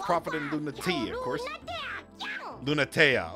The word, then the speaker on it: Lunatea: Lunatea. Okay, so that's how they pronounce it. Lunatea.